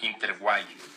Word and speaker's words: Interweave: y a Diego Lizano para un caso, en cambio de la empresa Interguay, así se pronuncia al parecer, Interguay Solution.